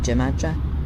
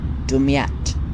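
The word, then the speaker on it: Damietta: We're heading to the left of that, to the right of Gemadra, I think it is. I think I butchered that. Let me find out what it's actually pronounced. Dumyat.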